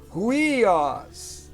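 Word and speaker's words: υἱός: Então, no caso, como aqui é aspirado, é ruios. Ruios, porque aqui tem aspiração.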